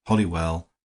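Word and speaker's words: Holywell: to the fact that it was pronounced hollywell by the most ignorant and oldfashioned of the poor but it is spelled wrong and pronounced right do you mean to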